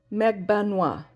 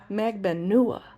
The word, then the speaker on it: Magbanua: Almost like three syllables, not four. Magban, almost like that A sound. Magbanwa. Noa, like okay, so mentor lawyer says Magbanua. And what I know from learning Spanish is if there's not an accent on one of the syllables, they will accentuate the second to last syllable, which would be Magbanua.